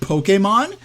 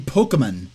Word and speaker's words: Pokémon: don't have it nailed down exactly how to pronounce the madeup word Pokemon so here the actress is um saying Pokemon when it's officially pronounced Pokemon and the first